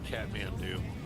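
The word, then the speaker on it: Kathmandu: I don't even know how to pronounce that. Oh, that's Catman do.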